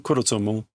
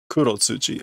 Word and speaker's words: Kurotsuchi: Captain Kurotsumo.